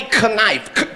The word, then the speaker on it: knife: She said the K is silent. I said, then take that quiet motherfucker out then, cause it's confusing me.